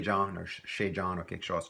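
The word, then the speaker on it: chez: to a person's place we use the term Shay and sometimes pronounced to say without the H sound ishe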